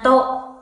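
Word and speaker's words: と: Nichiyōbi to, nhớ chữ to phát âm như vậy nha, to.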